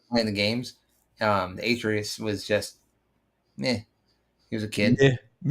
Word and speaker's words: Atreus: Pronouncing his name wrong. No, it's Atreus.